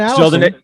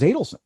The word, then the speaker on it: Adelson: pronounce it was because it's not Adelson, it's Adelson because you could just think he's adding up his money.